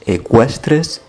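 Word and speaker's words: eqüestres: Luego ya nos vamos a ecuestres, que tenemos el mismo caso de antes, la diéresis para indicar que hay que pronunciar la U.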